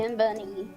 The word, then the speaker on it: Kimini: Kim Bunny. Or just think of the words Kim and Bunny together, even though that's not.